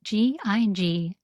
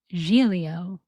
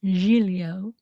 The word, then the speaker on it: Giglio: It's spelled Giglio.